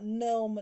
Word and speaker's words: gnome: according to this row some letters do not pronounce before if you are the letters for example w before uh right wrong k before n knee no knife g before and no gnome net little children adore riding